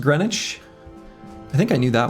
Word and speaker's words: Greenwich: Recently you learned green witch is pronounced Greenwich.